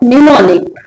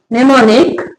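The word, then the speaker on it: mnemonic: लिखेंगे निमिक क्या है जब वर्ड के शुरू में एम हो और उसके बाद एन हो तो एम साइलेंट रहता है जैसे निमोनिक निमिक नेक्स्ट क्या है वर्ड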